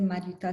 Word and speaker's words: Mariuta: mari si mari c'est trop trop difficile à prononcer mariuta ça passe très bien euh sinon ça